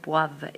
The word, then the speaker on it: boivent: And notice that the ENT at the end of boivent is not pronounced. We don't pronounce that ENT, just like we don't pronounce the ENT for the ER verbs.